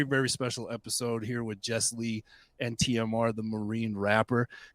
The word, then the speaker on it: Jesslee: so it's funny because everybody always wants to separate it into like two words and I'm like it's